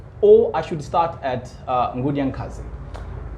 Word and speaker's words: Nkudi-A-Nkazi: Should I say Nkudi-A-Nkazi? Yes. Yes? The original pronunciation. Yes. Yes, my guest for today's edition is Nkudi-A-Nkazi, who is an activist, a hip-hopper, a rapper, and a Pan-Africanist.